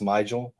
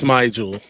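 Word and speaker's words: Smigiel: out for sure that is it pronounced Smigel? Yeah, it's Smigel. Somebody was on. We had like one of the offensive linemen on, who is obviously in contact with them. But yeah, he said it was Smigel because it would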